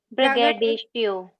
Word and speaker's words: braggadocio: Braggadocio. Braggadocio. Braggadocio. Shit. Braggadocio. Braggadocio. हाँ, तो अब देखो किसमें हाई पिच होगा, डो में हाई पिच होगा, ब्रैग में थोड़ा सा कम होगा, ब्रैग।